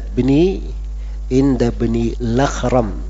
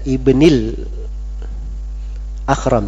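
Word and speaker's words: ابن الأخرم: Itu bacanya inda bni Lakhram, bukan inda ibnil Akhram, tidak, tapi inda bni Lakhram. Jadi harus asalnya kan al Akhram gitu kan, tapi a-nya harokatnya dipindah ke lam, jadi inda bni Lakhram bacanya.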